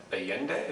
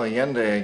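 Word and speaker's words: Allende: Foul Play so let's move on to uh aende is that the pronunciation mhm yeah well yende again President of Chile and um aende went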